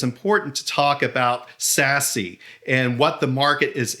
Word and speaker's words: SASE: and i believe it's important to talk about sassy and what the market is implicating for the entire industry and as a good starting point i think it's best to understand what does sassy stand for and it stands for security access